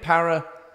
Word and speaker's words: paraxanthine: Paraxanthine.